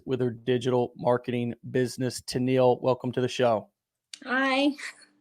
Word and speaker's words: Tenille: Tanil, welcome to the show. Hi. Am I pronouncing that right?